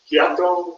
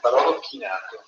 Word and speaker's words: Barolo chinato: dinner drink, the Barolo, how do you pronounce it, Chiato, or? Yeah. No, it's an after dinner drink with more sweetness. Chiato? Maybe that's, what is it? Barolo chinato. Barolo chinato. Barolo chinato. Right.